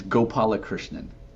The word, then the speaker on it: Gopalakrishnan: How do how do you pronounce the last name? It's Gopala Krishnan.